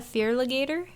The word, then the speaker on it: Feraligator: He had a Fearligator. For alligator, yeah. Oh, is that how you say it? Yeah. Dang it. Because it's feral and alligator. I thought it was Feraligator.